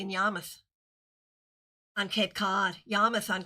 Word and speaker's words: Yarmouth: Let me say it correctly, in Yarmouth on Cape Cod.